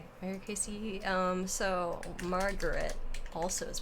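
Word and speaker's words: Ericaceae: plants in the family erica cia varicasia eriksia i'm just gonna look for pronunciation real quick or kc depending on apparently ugh i want something that era kc okay era casey um so margaret also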